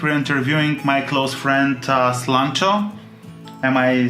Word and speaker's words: Slancho: We're interviewing my close friend Slancho.